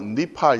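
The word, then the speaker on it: נִפְעַל: 팔, 니프알, 피엘, 푸알, 히프일, 호프알, 히트파엘. 물론 현지에 가서 이걸 들어보면 니프알 이렇게 안 하고 니팔 이렇게 하죠. 그 다음에 히필 이렇게 히프일 이렇게 안 한단 말이에요.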